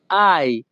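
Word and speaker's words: hai: দিকে কোজা আয় বিজনীয় এখানে এইচ এ আই এর উচ্চারণ হবে আই ইতালিয়ান ভাষাতে এইচ এ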